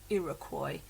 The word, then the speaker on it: Iroquois: It's a strange word, but that is the pronounced Iroquois.